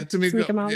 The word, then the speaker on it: Tamika Mallory: Yeah, Tamika Mallory.